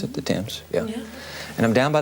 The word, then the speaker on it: Thames: Isn't that how you pronounce it? The Thames.